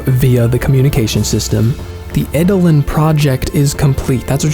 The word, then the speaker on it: Eidolon: Along the way, you fight the Eidolons. I looked up the pronunciation for that.